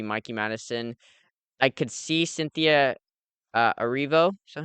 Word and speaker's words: Cynthia Erivo: I could see Cynthia Erivo. Is that how you pronounce it? Yep. Cynthia Erivo possibly getting it, but I would be kind of shocked if Nora didn't beat that.